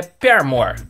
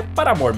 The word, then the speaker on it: Paramore: é sobre o paramore pronúncia correta é permanente só que é um pouco de falar o vídeo inteiro desse jeito então é para amor mesmo vou começar falando da